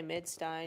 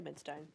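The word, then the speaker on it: Midstein: into midin or mid I don't know how you say it both are fine guess I say midin yeah both are fine but I say mid Stein it's just you know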